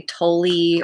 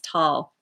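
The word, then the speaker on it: Tolle: eckhart tall i had to look up the pronunciation of his name because a lot of people say tully or tole and i'm like this guy's german they don't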